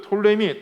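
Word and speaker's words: Ptolemy: 세력을 보았죠 오늘은 바로 그 셸 유쿠 서 톨레미 라는 그 두 세력에 대해서 두 나라에 대해서 뭐 보고자 합니다 자 먼저 프톨레마이오스 시대라고 합니다 프톨레미 돌 mi 오스 톨레미 톤의 마이어스 같은 이야기입니다 수 나는 이 단어가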